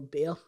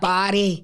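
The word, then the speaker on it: Bair: Is it Bear or is it pronounced Bear. Barry? It's B-A-I-R. No, it is Bear.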